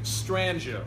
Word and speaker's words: Strangio: My name is Strangio. Now sometimes I got to spell it out with a J, otherwise it's Strangio or Stranglo or Strangio. So it's Strangio. STRANGIO. Rhymes with banjo.